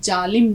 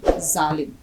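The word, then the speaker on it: ज़ालिम: अब देखिए, और इसका उच्चारण जालिम नहीं जालिम।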